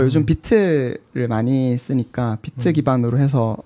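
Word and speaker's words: Vite: 근데 뭐 요즘 비트를 많이 쓰니까 비트 기반으로 해서 하시는 경우가 많은 것 같긴 해요. 바이트 아니고 비트죠? 비트로 그 읽는다고 비트로 읽는다고 하더라고요.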